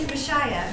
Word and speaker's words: Mishiah: All right, and my name is Mishiah. I have put it up phonetically for you, just in case. If you're not familiar with phonics, it's like Messiah with a sh in the middle of it.